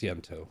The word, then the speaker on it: iantos: kill Joy that's just it's pronounced yanto okay I had a